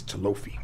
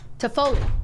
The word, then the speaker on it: Toffoli: I think it's Talofi. No, it's not. What's his name? Say it right. Uh-huh. Talofi. How do you say? That's where we gave you the goods. Yeah. Toffoli. Toffoli, not Toffoli. What did I say? Talofi? Talofi, yeah. Why did you say it? You got close.